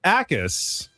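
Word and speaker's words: Jacas: When told the J is silent and it's actually pronounced Akis, Shane said, sure it is.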